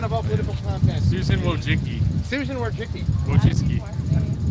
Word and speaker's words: Wojcicki: Susan Wojcicki. Susan Wojcicki. Wojcicki. How do you spell it?